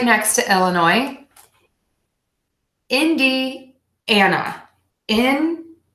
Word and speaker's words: Indiana: which is not pronounced the way that it is spelled next is the state right next to Illinois Indiana in d and up in d Ana Indiana Indiana Indiana Indiana okay this one always throws